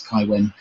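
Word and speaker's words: Cywen: hard cave all this the hard c which is pronounced as a k or the soft c which is pronounced as an s but i try to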